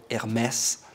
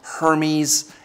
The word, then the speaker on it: Hermès: point by the way the brand is called Hermes not Hermes and to learn more